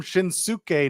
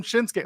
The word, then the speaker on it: Shinsuke: every week how it's pronounced the U is is silent it's a bridge letter it's like you don't call him shinuk Nakamura you call him shinsuke what do you but that's the thing like